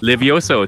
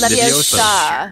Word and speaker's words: Leviosa: Levioso Tarapeutic. Oh. It's Leviosa. Leviosa, is it Leviosa?